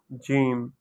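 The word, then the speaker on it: جیم: from Udu language uh it's called gim like this gim its pronunciation with sound is like gim gim so in Ur we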